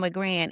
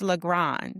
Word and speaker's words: Legrand: And I had to apologize because I was saying Legrand. It's Legrand. It's Well, pronounced let's be Legrand. honest. It is. That's the French way, but I receive all of it.